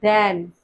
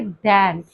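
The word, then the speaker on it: than: अब आता है नेक्स्ट कंपैरिजन हमारी उसके लिए देन। अच्छा ये टी एच ए एन वाला है। इसकी प्रोनाउंसिएशन में भी हम ए पे अपना थोड़ा एफसाइज़ करेंगे। देन इट्स नॉट देन।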